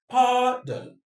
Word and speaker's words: pardon: Pardon me, though. The stress is on the first syllable. Why? The reason is the don is a weak syllable. Pardon. Pardon. It's a schwa sound that ends there.